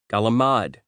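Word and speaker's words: calamari: any other county in the country are pronounced Mudzerel, Galamad, and Pushcuto.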